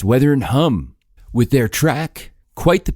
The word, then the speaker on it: Hum: Why do I keep saying The Weather and Hume? I don't know. It's like, it's probably The Weather and Hum. It's spelled H-U-M. But I have this weird tendency to overcomplicate everything. So I'm looking at H-U-M, thinking it can't just be Hum. It has to be Hume.